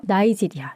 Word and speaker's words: 나이지리아: 영국령이었으니까 이제 영어식으로 해서 나이지리아 이렇게 발음을 합니다.